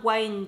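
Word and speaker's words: Wynne: fois dans cette vidéo je vais l'appeler Diana win Jones parce que je pense que c'est la bonne prononciation mais des fois j'entends Diana wine Jones donc je ne suis vraiment pas sûre parce que j'ai déjà entendu les deux le château de hurle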